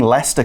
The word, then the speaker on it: Leicester: Well done for pronouncing Leicester correctly.